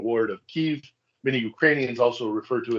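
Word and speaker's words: Kyiv: I have always referred to it as Kiev, as opposed to the Russified version, which is Kiev. If you can hear that distinction, basically is where do you put the Y, the end of the first syllable or the beginning of the second syllable.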